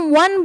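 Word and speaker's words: one: जब हम वन बोल रहे हैं। वन जब हम बोल रहे हैं तो वहां पे क्या आ रहा है? व से उच्चारण हो रहा है।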